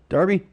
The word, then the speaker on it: Darby: I am pronouncing your name correctly. Right, sir? Darby?